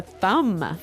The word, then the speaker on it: thumb: of this word no i actually only pronounced the m the thumb the thumb